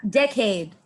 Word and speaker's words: decade: So you stress on the first part.